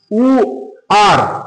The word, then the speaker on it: where: WHERE উ আর উ আর, এরকম উচ্চারণ গুলো আসবে কিন্তু।